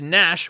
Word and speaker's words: Nashville: For the gazillionth time, it's Nash with a silent G.